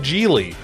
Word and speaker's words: Gigli: kidnapping action movie called geely it rhymes with really like really really bad but don't take my